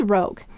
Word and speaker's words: rogue: So whenever we have a U at the end of the word, we must have a silent final E. So this is rogue.